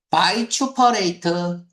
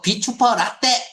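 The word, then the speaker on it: vituperate: 바이추퍼레이트. 바이퍼레이트 이거 비추퍼라떼 이름 안 돼요. 비추퍼 라떼 라떼 커피 이름 커피 이름 아니야. 비추퍼라떼 이렇게 발음하면은 내가 비난할 거예요. 바이추퍼레이트야.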